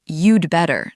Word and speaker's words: you'd better: Yes, and notice how I pronounced it. You said, "You'd better." Not "You had better." That is crucial. Native speakers almost always shrink had.